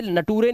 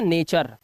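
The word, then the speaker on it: nature: अब इसे नटूरे नहीं पढ़ते। इसे इसे नटूरे नहीं पढ़ते। इसलिए नहीं पढ़ते क्योंकि लास्ट में यू आर है तो इसको आर पढ़ेंगे तो ये हो गया नेचर और ये हो गया फ्यूचर और ये हो गया लेक्चर और ये हो गया कल्चर। क्योंकि टी यू आर ई मिलकर चर बनता है।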